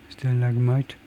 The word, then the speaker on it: stalagmite: 것 같은데 stalagmite, stalagmite, stalagmite. 그래요, 석순. 그래요. stalagmite, stalagmite, leg에 액센트가 있네요.